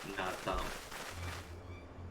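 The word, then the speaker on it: Naadam: Keep saying Nadi. Need to pronounce it. Nardam.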